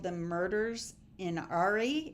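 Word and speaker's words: Åre: It's called The Murders in Ari. It's spelled A-R-E.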